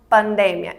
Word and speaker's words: pandemia: palavra heterotônica, por exemplo, seria pandemia, em português, que se escreve exatamente igual em espanhol, mas em espanhol a gente vai pronunciar pandemia.